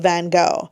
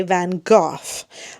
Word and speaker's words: Van Gogh: Canadians say Van Gogh. That's how I was educated. That's how I've always learned. The British say Van Gogh. But the actual Dutch is more like Van Gogh. I can't really say that, and even that's really wrong. I literally don't have the phonemes to make the sound.